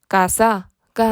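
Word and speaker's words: casa: 어떤 알파벳으로 끝나죠네 ao 그럼 무조 건 뒤에서 두 번째 음절인 가의 강세를 주게 되겠죠 발음을 하실 때 가사가 아닌 가사 가사라고 해 줘야 되는 거죠 아에이오우를 제외한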